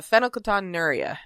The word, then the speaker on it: phenylketonuria: And for those who don't know, which is probably almost every single one of you, PKU stands for uh fenocaton nura is how it's pronounced.